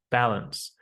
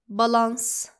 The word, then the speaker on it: balance: It's the same as saying the word pandemic and balance. We don't pronounce it with an ah sound, but with an a sound. We do not say Pandemic. Balance. it's pandemic and balance.